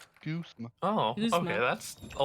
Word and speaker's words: Guzma: Also, found out his name is pronounced Guzma. Guzma.